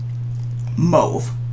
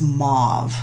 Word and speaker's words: mauve: where I grew up we say that color as move move everybody else I know says mauve how do you say it let me know down below is it move with a heart o or mauve anyway second color is